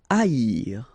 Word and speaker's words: haïr: Haïr. Okay, so keep in mind that here you will pronounce it like I, haïr. First H is not pronounced, okay, so haïr.